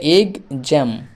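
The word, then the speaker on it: exam: এরপরে মটা এখানে আসবে তাহলে এগ জ্যাম আসছে তাহলে এক্ষেত্রে এক্স এর উচ্চারণ হলো গজের মত এক্সাম মানে হলো পরীক্ষা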